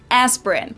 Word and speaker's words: Aspirin: about is the painkiller aspirin. Now that was the English pronunciation, aspirin. But the correct German pronunciation would actually be Bayer, and the medicine is called Aspirin in German. Aspirin.